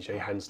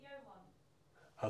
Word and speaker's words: Johan: And this is number three in Jehan's list. A good list. Sorry? You pronounce it Johan.